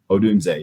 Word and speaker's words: Odunze: Is it a Dunze? Is that how you say it? Odunze, yeah.